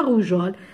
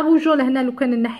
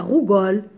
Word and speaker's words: rougeole: Exemple, la rougeole. La rougeole, le E, ça devient la rougole. Donc, pour devenir rougeole, pour prononcer le E, on rajoute le E.